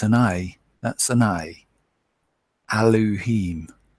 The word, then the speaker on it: Elohim: no e it's an a that's an i eloheem eloheem not Elohim like some P pronounce it because there's no e in it